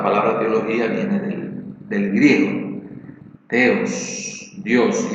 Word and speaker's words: theos: Entonces, teología, como sabemos, viene de dos términos griegos: teos, T-H-E-O-S, teos, que también se pronuncia theos, ¿verdad?, que es el término Dios, se traduce como Dios.